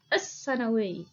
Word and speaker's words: السنوي: لام شمسية السنوي كتبت ولم تلفظ، السنوي.